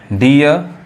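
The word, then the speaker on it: dear: जाएगा, गलत हो जाएगा, डीर नहीं कहेंगे, इसलिए अब इसको देखिए फिर नहीं कहेंगे। बोले हैं ना डबल ई या EA के बाद से जो आर आता है तो उसका उच्चारण क्या होता है, ईया होता है, यानी डी, केवल आर आना चाहिए, आर के अलावा कुछ होएगा तो वो डबल ई पढ़ाएगा। देखिए डियर, चीयर, फियर, टीयर, दिखाई दे रहा है, टीयर।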